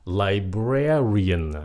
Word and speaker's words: librarian: là âm su super Library nhấn âm 1 librarian nhấn âm hai không phải là librarian no